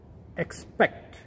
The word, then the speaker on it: expect: The third word, which is something similar, is pronounced as expect. Expect. Beginning is same as accept, and here it is also ik, but it's spect, not just sept, it is spect.